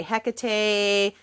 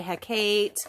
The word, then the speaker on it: Hecate: I will say that you can pronounce haate any way that you want you can say Hecate e some people say heate um when I was